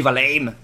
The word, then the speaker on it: Valheim: On dit Valheim ou on dit Valheim?